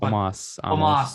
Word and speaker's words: Omos: I don't know how to say his name. Omos. There you go.